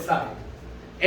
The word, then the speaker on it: psi: psi की का symbol है, स्पेलिंग psi तो तुम बोलते वक्त psi बोल सकते, ठीक है, पर इट्स एक्चुअली उसका सिंबल है साई, एच साई is equal to ई साई।